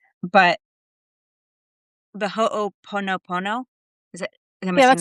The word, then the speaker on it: Ho'oponopono: But the Ho'oponopono?